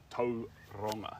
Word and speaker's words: Tauranga: I don't know how you say it that way, but you say To-ronga. So, you roll the R.